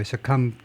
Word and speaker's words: succumb: 하지 말아라고 succumbing to, succumbing, 부는 묵음이고 succumb to 하면 무엇에 굴복하다죠.